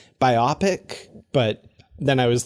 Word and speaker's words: biopic: have done that because i always thought it was biopic i don't know if i've heard the other pronunciation if i did i